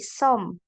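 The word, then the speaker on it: 섬: contoh di sini berarti kita akan baca so ditambah m jadi Som ya som yang ini berarti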